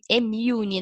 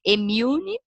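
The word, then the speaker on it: Immune: assim a ação do Emune, né, gente? Essa é a palavra, a pronúncia correta do nosso produto, né? Ela tem uma pronúncia difícil aí, Emune, e eu espero, né,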